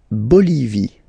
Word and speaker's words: Bolivie: La Bolivie. Okay, final E not pronounced.